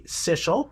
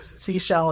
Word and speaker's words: Sichel: Well, technically it should be Sichel because it's German. Okay. But we're pretty my last name's also Germanically derived, and we rhyme with whatever, right? Yeah, we go exactly. with it. So Seashell is fine. Because she sells seashells.